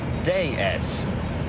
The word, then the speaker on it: déesse: And that's not such a fatuous analogy, actually, because what we call the DS is, in France, pronounced déesse. Déesse. It's the French word for goddess.